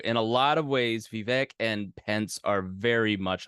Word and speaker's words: Vivek: Vivek like cake.